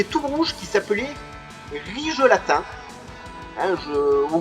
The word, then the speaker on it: Rigelatin: un méchant qui est tout rouge, qui s'appelait Rigelatin, hein, ou Rigeltin, voilà, ça s'écrit R-I-G-E-L-A-T-I-N, le nom de ce mec-là.